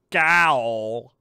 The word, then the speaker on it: gaol: She don't belong in gaol. Sorry, I know it's pronounced jail.